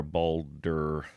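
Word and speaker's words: Baldur: B A L D U R Boulder.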